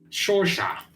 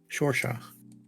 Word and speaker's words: Saoirse: Shorsha. Shorsha. It's like the actress. Saoirse Yeah. Ronan. Yeah. Except, Yeah. except it's unpronounceable.